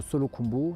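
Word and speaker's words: Solu Khumbu: On est dans la région de Solo Kumbu. C'est sûr, Solo et Kumbu, c'est dans la même région, mais on prononce en deux mots.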